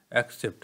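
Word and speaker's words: except: নিয়ে বিস্তারিত আলোচনা করব একসেপ্ট হ্যাঁ এটার প্রোনাউন্সিয়েশন হবে একসেপ্ট এবং এটির যে প্রোনাউন্সিয়েশন সেটি হবে এক্সেপ্ট হ্যাঁ একসেপ্ট আর হচ্ছে এক্সেপ্ট বিষয়টা একটু মাথায় রাখবেন প্রথমে দেখেন একসেপ্ট এক্সেপ্ট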